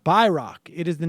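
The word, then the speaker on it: Bayrak: shortwave radio nerd I recognize the name bayrock pronounced bck it is the name of a former clandestine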